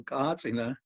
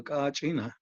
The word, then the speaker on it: kachina: a Catina the chin is pronounced in different ways throughout in Hopi and other pueblos some places they call cartina and other places they call Katina so but it's the same